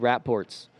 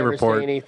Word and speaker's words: rapport: But let's talk about the B BCC rap ports. I think that's how you say it. Oh, my wife. I say report. My wife tells me it's rapport.